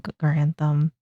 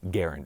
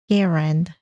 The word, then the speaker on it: Garand: And he asked that his preferred way of his name being pronounced was Garand as in Aaron. So, we'll put a little bit of respect on Garand.